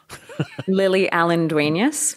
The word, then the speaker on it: Lily Allen-Duenas: how did how do you say your name lily allendueneus okay for those of you podcasters out there